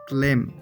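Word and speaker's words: climb: गौर से देखें तो मैंने क्लेम में बी का लब्ज नहीं बोला क्योंकि बी साइलेंट है बी का लब्ज इस अल्फाज में लिखने के लिए होता है लेकिन बोला नहीं जाता कुछ इस तरह बोले क्लेम क्लेम और इसका मीनिंग है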